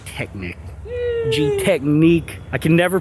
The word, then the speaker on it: Gtechniq: different names and whatever is it g Technic or G technique say G Technic in the United States that's what I thought okay yeah so if you're British G technique but if you're from